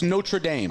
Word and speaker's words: Notre Dame: I'm just telling you how to say it correctly it's notra Dame all right so not